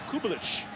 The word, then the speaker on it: Kubelich: Learned last night that the proper pronunciation of Cole's last name is Kubelich.